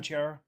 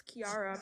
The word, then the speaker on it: Kiara: the leftest one so are you done Chiara it's Kiara butara well only